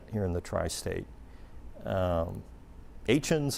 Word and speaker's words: Etienne: Um Etienne's another one, e t i e n n e. But you say it Etienne.